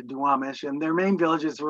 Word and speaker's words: Duwamish: And the people who lived along the Black River here, I'll mispronounce this, but they were called the Duwapsh, which we anglicized to Duwamish, and their main villages were along the Black River.